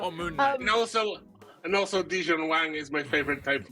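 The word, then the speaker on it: Di-Jun Wang: I hope I'm pronounced this correctly. Dijon Wang.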